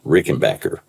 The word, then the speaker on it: Rickenbacker: So he changed the spelling and changed the pronunciation.